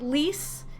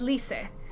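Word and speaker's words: Lyse: from English to like lease is not least in Japanese it's Lise and that's one of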